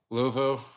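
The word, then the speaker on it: Luvu: How do you say it? Louveau? Louveau. My bad, Frankie.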